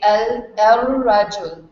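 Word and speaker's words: الرجل: So when you add an alif lam to it, you skip the pronunciation of the lam, and then you go from alif to the ra, and you say el rajul. and the ra gets a shadda.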